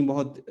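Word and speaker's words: bom: जैसे सी, है ना, और सी बहुत महत्वपूर्ण शब्द है, इससे आप क्या बोलते हैं? सी, यस। ओ, ओ एम, इसको हम ओम नहीं पढ़ेंगे, क्या पढ़ेंगे? ओम, है ना, तो ये क्या हो गया? बो।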